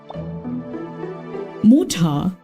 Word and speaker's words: Mutter: But in the official German pronunciation, Mutter isn't pronounced with the letter R.